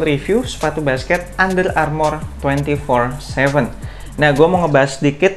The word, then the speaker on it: Twenty47: Di video kali ini gue akan ngebahas initial review sepatu basket Under Armour 24/7. Nah, gue mau ngebahas sedikit tentang namanya, kenapa 24/7 dan kenapa gue cukup yakin cara bacanya tuh 24/7.